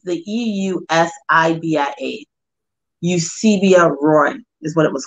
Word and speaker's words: Eusebia: And Edward was the first, the ship was called the, I'll spell it, it's the E-U-S-I-B-I-A. Eusebia Roy is what it was called.